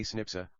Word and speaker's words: SNP: based DNA differences snps a single nucleotide polymorphism pronounced as a snipa occur in humans this information promises to revolutionize